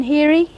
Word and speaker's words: Heary: Heary. Heary. Heary. How do you spell that?